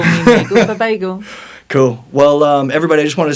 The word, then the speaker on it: Nagel: how to say it, it's Nagel like bagel, but with An N. That's what they said at MGM, right? That's how they used to call you. MGM used to call me Nagel for bagel.